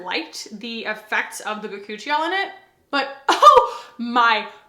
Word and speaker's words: bakuchiol: This actually has bakuchiol in it, which there are several ways that people have opinions on how to pronounce that. I say bakuchiol, makes sense.